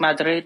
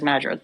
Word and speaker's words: Madrid: So if I'm speaking Spanish, I'll say it like Madrid. But if I'm speaking it to like, an English speaker, I'll say it as Madrid.